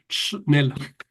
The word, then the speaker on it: Schnell: Nosotros en la familia en Venezuela decíamos que había que decir Nel.